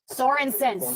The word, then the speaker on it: Sorensen: Sorensen, kind of like Paulson. Okay? Like my husband's family, son of Paul. Sorensen, son of Soren.